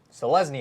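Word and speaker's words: Selesnya: what hey what do we have next to pronounce another guilt Andrew you can take this one so lesney yeah you did it yeah this is like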